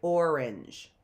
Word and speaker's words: orange: Orange, orange. It almost sounds like it's a short E in there, doesn't it? So that's why we have to memorize.